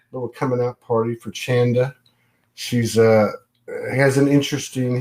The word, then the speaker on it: Chanda: that's right with the chanda rhymes with panda it's a hard one a lot of people say it wrong it's chanda yeah you did good